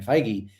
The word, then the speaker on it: Feige: One, they interviewed Kevin Feige. That's how you say his name, right? Feige?